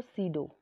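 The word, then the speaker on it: pseudo: number 2 होते हैं अमार्फस solid, अमार्फस solid को सीडो सॉलिड भी बोला जाता है, पी साइलेंट रहेगा, सीडो सॉलिड भी बोला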